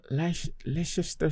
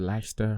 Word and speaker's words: Leicester: Arsenal, Leicester City, or is it Leicester? Whatever you pronounce it. Like molester. Yeah, dang. Without the mole.